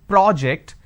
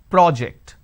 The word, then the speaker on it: project: using per and or project when I say project I'm using per o so when I have project it's an aw sound when I have project I have an o sound but the bigger aspect